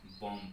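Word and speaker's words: bomb: पहला नंबर, जैसे एग्जांपल में बी ओ एम बी, ठीक है, बम हो गया, लेकिन इसको बम नहीं, बम पढ़ते हैं, ठीक है, बम, इसके बम पढ़ते हैं, तो बी यहां पे साइलेंट हो गया।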